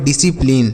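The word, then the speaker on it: discipline: यह लिखा गया बच्चों डिसिप्लिन ठीक है यहां पर एस और सी जहां पर रहता है बच्चों वहां पर सी साइलेंट होता है मतलब उसका उच्चारण नहीं करते हैं आगे अगला लिखा गया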